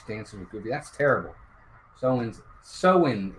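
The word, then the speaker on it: Samhain: Soin, it's pronounced.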